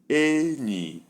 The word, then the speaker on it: enyi: Number 2, high, low. The sound is enyi, enyi, friend, enyi.